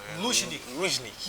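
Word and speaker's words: Лужники: A pronúncia é corretíssima. Luzhniki.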